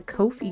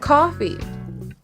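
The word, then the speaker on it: Ko-fi: or go to the Kofi shop it's really weird that it's pronounced Kofi right is it weird that it's pronounced Kofi is that just me cuz it's not coffee that's the thing it's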